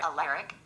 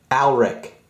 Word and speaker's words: Alaric: Hello there, Alaric. That's not how you pronounce that. Okay, how do you pronounce the name? Alric. Okay, thank you.